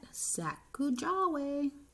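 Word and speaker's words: Sacajawea: has a fancy name sakujawe you say it like that saku jahweh later miss glass has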